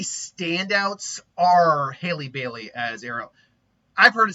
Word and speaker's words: Bailey: Bailey. Haley, not Bieber. Bailey.